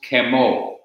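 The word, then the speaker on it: כְּמוֹ: But then you have a form that is pronounced kemo, C-E-M-O.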